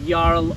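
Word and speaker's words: jarl: and in old norse when you see the j in the english alphabet um it's actually pronounced with a y or yeah okay um such a yolk so a url or a fjord and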